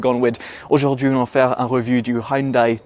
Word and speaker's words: Hyundai: really baffles my mind see Hyundai instead of Hyundai or Hyundai as we know in the UK and Tucson which really